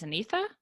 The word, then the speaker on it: Anitha: Just in it's your first name is Anitha. Yes, that's right. Okay, just want to make sure I was pronouncing that correctly.